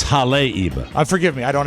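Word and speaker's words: Haleiwa: send those were two that they send specific pronouncers for I would have said de Delano too but it's deleno and it's Hal Eva it's Hal Eva I forgive me I don't have it in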